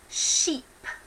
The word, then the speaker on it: sheep: I have examples on those do sounds of words that sometimes get mispronounced so for example we have sheep and ship ok so a sheep